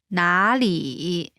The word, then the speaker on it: 哪里: When there are two third tones in a row, the first one changes to the second tone. Listen to the pronunciation again. 哪里 The pronunciation differs from